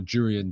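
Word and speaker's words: Jurriën: Arsenal Garrett of course Yuri and Timber or durian Timber I should say after being battered in the comment section for not pronouncing the J um I think that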